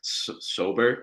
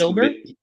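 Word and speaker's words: Saubert: Broncos backup tight end Eric Sobert, I think is how I'm pronouncing it. He's Sobert.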